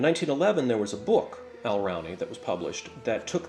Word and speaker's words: Alraune: And I know the first time I told you this, I ought to spell it because it's hard to figure out my pronunciation. Alraune.